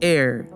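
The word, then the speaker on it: Eyre: all of australia lake air spelled air but pronounced air you get the point this thing is 50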